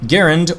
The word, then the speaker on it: Garand: Garand, and yes, that is how you pronounce his name according to his own words. The M1 Garand was a semi-automatic battle rifle designed for infantry use.